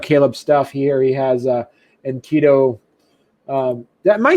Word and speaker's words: Enkidu: to, check out Caleb's stuff here, he has Enkidu. Am I saying it right? I just want to make sure I'm saying your name. Enkidu.